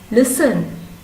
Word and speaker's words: listen: silent k next one listen listen listen has silent t next one honest honest